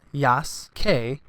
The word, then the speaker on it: Yasuke: Yasuke, pronounced Yasuke, but spelt Y-A-U-K-E.